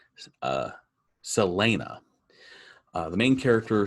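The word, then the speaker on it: Celaena: name wrong it's spelled c-e-l-a-e-n-a and it's pronounced uh selena the main character selena is a assassin so that by profession she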